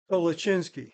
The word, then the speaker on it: Kalosinski: So how do you say it in Polish? Kolosinski. Kalosinski. Yeah, Kolosinski.